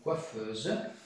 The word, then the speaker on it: coiffeuse: u se prononce ouvert par exemple une coiffeuse dans ce mot une coiffeuse euh on prononce donc le E ouvert et un autre exemple